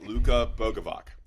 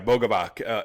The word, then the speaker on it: Luka Bogovac: Let me pronounce this right. Luka Bogovac. Yeah, Bogovac.